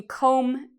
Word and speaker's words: comb: Okay, so comb is like you comb your hair in the morning. Do you hear the B sound? Comb. No, there's no B sound because again, we have this M. So that means no B pronunciation.